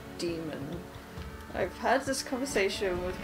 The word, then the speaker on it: daemon: So if you spell it D-A-E-M-O-N, it's still demon.